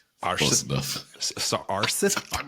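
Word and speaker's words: Aarseth: his name was Oystein Arseth. And I believe that it is actually pronounced Eystein. Eystein? Close enough. So Arseth? I'm not going to be able to correct you, I promise. With a hard T.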